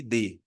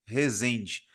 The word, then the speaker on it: Rezende: Esse D é mudo, tá? Renato underline Resend. Rezende.